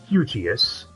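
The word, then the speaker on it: Hugeass: organization known as hugias h-u-g-e-a-s-s all one word pronounced eugeous that was so bent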